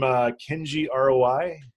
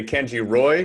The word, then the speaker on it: Kenji ROI: He's from Kenji ROI. Am I pronouncing that correctly? You're pronouncing that correctly. A lot of people say Kenji Roy, but it is in fact ROI, standing for return on investment.